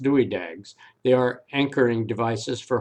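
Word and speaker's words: Dywidag: or two about concrete the anchors are called and pronounced dewey dags they are anchoring devices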